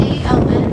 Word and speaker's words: Aon: It's spelled A-O-N, but it's pronounced Aon, and that is our city's third tallest building.